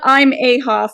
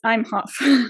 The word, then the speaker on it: Imhoff: you pronounce it no but that's how you spell it right it's not I'm a Hoff it's I'm Hoff I'm Hof yep yeah there you go makes